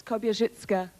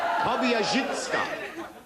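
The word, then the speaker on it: Kobierzycka: If you get the pronunciation right, it's Kobyachika. Oh, what? Kobyachika.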